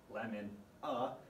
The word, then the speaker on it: LMNA: HGPS is caused by a mutation in the gene called LMNA, pronounced lemon-a, and this codes for